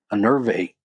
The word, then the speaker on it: enervate: It's pronounced enervate with stress on the second syllable.